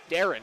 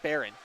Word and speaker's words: Darren: gets the puck back sorry it's darren not baron darren so apologies for saying